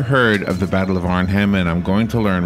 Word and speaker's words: Arnhem: so far away is the Battle of Air Arnhem am I saying it right you are he